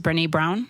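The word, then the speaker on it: Brené Brown: think her name is Brene Brown. She uses an analogy all the time, like Okay. with her and her husband, and she'll say, "Did I say her name right?" Yeah. Yes, Brene Brown.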